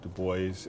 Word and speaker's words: Du Bois: Du Bois, and his name is pronounced Du Bois, and as if it were to be spelled B-O-Y-S-S, which is a harder S, was an African-American pioneer in the area of civil rights.